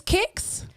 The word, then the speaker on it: CIX: correct the other one is I think it's kicks I'm trying to go by the list cuz